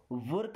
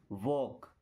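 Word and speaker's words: walk: यह वर्क नहीं है। वॉक। क्या? वॉक। देखिए आप चाहे तो वर्क बोल सकते हैं। बट अगर इसको हम बोलते हैं वॉक। ध्यान से देखिएगा। Do some वॉक? क्या? एक्चुअल में वर्क लिखा है ना? बट हमने यहां पे आर को साइलेंट करके और वॉक जब आर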